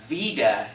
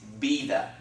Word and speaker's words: vida: sound the V inning in Spanish is pronounced in like our English letter B okay so it's not Vida its bina okay and remember the